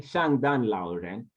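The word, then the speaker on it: 圣诞老人: In Chinese, you say Shangdan Lauren, Shangdan Lauren, Shangdan Lauren, Shangdan Lauren is Santa Claus.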